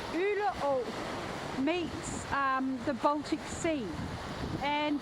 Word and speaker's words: Øle Å: I'm just standing at the mouth of Øle Å, which is a stream that runs out from the centre of the island out into the Baltic Sea.